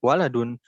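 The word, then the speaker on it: وَلَدٌ: Nah, jadi kalau misalkan gundul nih, Arab gundul, wau lam dal, wau lam dal. Nah, itu berarti dibacanya waladun.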